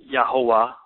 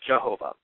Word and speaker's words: Jehovah: its way to English there's no J in the Hebrew so it would have been yah ho there's not a v sound either so the the VAV would be more of a w so it have been yahovah or yahovah or Jehovah um according to those vow markings there's a reason to